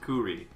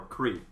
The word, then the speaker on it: Kuri: Apparently chestnut is pronounced Kuri. Or Kri. If you say it fast enough, I'm sure.